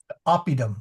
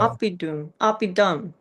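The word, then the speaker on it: oppidum: Opidom. Shorter. Opidum. Um, opedom. Um, not a dum, but it's like the u in put or look.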